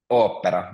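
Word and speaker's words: ooppera: P is also a little bit longer because there's two P's. You kind of make, because it's a consonant, it's difficult to pronounce it long, but you kind of make a stop there. So, kind of opera.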